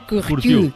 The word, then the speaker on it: Curtius: Curtius se escribe, porque es que yo no tengo morro para cerrarlo tanto y decir Curtius. Como Courtois, como el portero del Madrid, parecido, ¿no? Parecido, pero los franceses Curtius.